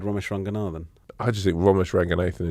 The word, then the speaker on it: Romesh Ranganathan: Romeshranganathan, actually. It's the correct What?